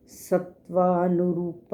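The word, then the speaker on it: सत्त्वानुरूप: इसमें जो वर्ड पहला कहा गया है सत्वानुरूपा, इसमें स के बाद आधा त 2 बार है। पहला आधा त स के साथ मिलेगा, सत्वा। अगला त जो है वो व के साथ। हमने सत्वा नहीं कहना, इसमें सत्वा। सत्वानुरूप सर्वस्य।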